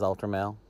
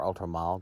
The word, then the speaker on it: Ultra Male: This is Ultramel, or Ultramal, depending on how you say it.